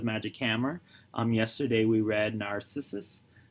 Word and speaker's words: Narcissus: Yesterday we read Narcissus. Narcissus? Narcissus. There we go, that's pronounced correctly.